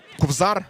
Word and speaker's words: Кобзар: Кобзар, тому що Кобзар, даруйте, так правильно наголос Давайте цієї атаки поговоримо.